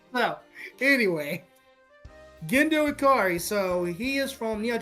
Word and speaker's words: Gendo Ikari: Next up is Evangelist with Kendo Iraki. I got it. Neon Genesis Evangelion with Gendo Ikari.